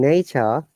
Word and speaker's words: nature: Look, in nature, we are not pronouncing R.